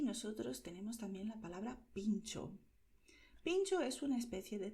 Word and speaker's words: pintxo: En español escribes pincho, en vasco escribes pincho, pero pronuncias de la misma manera, pincho.